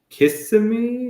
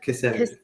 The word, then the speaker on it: Kissimmee: And Kissimmee? No, Kissimmee.